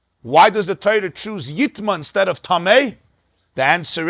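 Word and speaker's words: יִטְמָא: the pasuk says yitma, but it could be pronounced yitame. Even though the right pronunciation is yitma, kala oichel asher ya'achel asher yavay alav mayim yitma, but it could be pronounced yitame.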